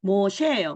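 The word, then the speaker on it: משה: 그래서 모셰예요. 모세가 아니고 모셰.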